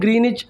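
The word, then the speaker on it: Greenwich: अब आपने आपने सुना होगा कि लंदन में ग्रीनिच मेरिडियन टाइम है, ग्रीन WICH, जो W है वो साइलेंट है, इसलिए हम उसको ग्रीनिच प्रोनाउंस करते हैं।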